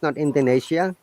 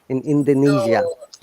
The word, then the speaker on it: Indonesia: from indonesia another sound it is not indonesia i this s sounds like zed in indonesia indonesia very good indonesia